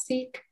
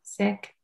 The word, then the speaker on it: Sikh: hear it pronounced as seek um the correct way to pronounce it is sick and in my own